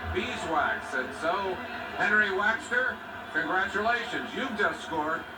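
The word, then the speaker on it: Waechter: Now, I know you Bear fans even call him Henry Wechter up there, but he told Merlin, did he not, that they're mispronouncing my name. We walked in and talked to him, Champaign, Illinois, and said, Henry, how do you pronounce your last name? Because I didn't know. He said it's Waxter, just like beeswax.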